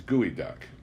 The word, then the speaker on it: geoduck: Geoduck, by the way, is pronounced by the Indians gooey duck.